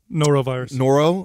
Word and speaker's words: Norovirus: Norovirus.